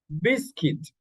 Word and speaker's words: biscuit: Now, in these letters, in these words, you don't pronounce the U sound. The U sound. You don't pronounce the U sound. Okay? And here we have biscuit.